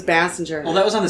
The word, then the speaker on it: Basinger: you know it was basing her and then it was Basinger well that was on